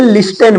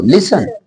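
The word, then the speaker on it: listen: T silent रहेगा जैसे इसे कई सारे बच्चे लिस्टन बोलते हैं नहीं बोला जाएगा अब सही करो इसको लिसन लिसन लिसन मी लिसन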